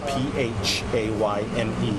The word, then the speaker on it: Phayme: Last name is spelled P-H-A-Y-M-E, pronounced Phayme.